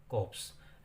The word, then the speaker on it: corpse: ऑफ ए कॉप्स, तो ये CORPSE है, लेकिन हम इसको R और E को साइलेंट रखेंगे, कॉप्स। And realise with pen that